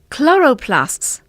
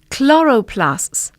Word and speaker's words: chloroplasts: Here's how the words are pronounced: grasp, grasp, crisp, crisp, lists, lists, chloroplasts, chloroplasts. They're a little tricky, aren't they?